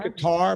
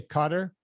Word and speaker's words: Qatar: how you say it i say guitar but now they say cutter oh i thought it was